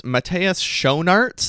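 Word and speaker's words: Matthias Schoenaerts: some more exciting news Matas sharts I believe is how you say it's name he's a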